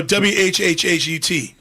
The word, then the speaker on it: what: I really pronounce the H. So WHHHUT, right?